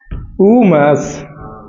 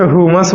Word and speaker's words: उमस: बोलिएगा मैं उमस। अरे तो साफ साफ बोलेगा था ना जी, बढ़िया से उच्चारण करो। उमस। ऐसे लगता है जैसे हुमस बोल रहा है।